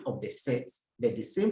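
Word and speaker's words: ces: This time around, we have different spelling of the set, but the same pronunciation.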